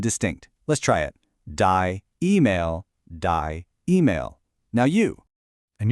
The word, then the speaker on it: E-Mail: It's die E-Mail. Let's really listen to those vowels. It isn't a soft English email, it's sharp, it's clear.